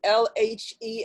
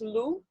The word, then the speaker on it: lhe: So the word conhecer, at its there's an LHE at the end. Is that pronounced lu? No. Conhecer-lhe, lhe. Yeah.